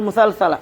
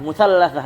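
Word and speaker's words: مثلثة: Nah, tsalits asyar sama bi fathi al musalsalah ya, musallatsah. Bi fathi al gimana bacanya? Musalsah ya. Karena lupa ilmu tajwid nih ya Allah. Musalsalah ya. Musalsah. Au musallasah ya, afwan, musallasah yang benar ya.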